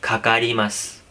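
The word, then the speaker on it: かかります: से इसके जो वर्ड है वो काकारीमास है, लेकिन हैवी बोलते हैं, खाकारीमास। थोड़ी देर के हैवी साउंड आ रही है।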